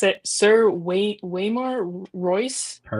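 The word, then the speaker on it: Waymar: I hope that's how you pronounce it. Sir Wayar Royce.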